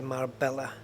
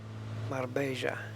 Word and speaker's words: Marbella: Don't go to Spain and say Marbella. Been to Marbella. No, you know you haven't. You've been to Marbella. Double L is pronounced like a Y in Spain.